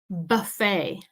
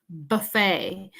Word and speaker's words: buffet: Remember, we don't pronounce the T with this word.